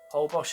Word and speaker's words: Holbox: Holbox is part of the Yumbalam Biosphere Reserve, and since 1994 it's been protected as an ecological sanctuary.